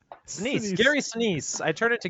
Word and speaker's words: Sinise: I don't know how to pronounce his last name. Denise. Sinise.